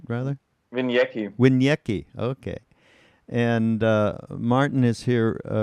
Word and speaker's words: Winiecki: Is that pronounced right? Rather. Winiecki. Winiecki.